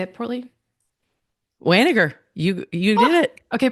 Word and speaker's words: Wanniger: Wanniger, Wanniger.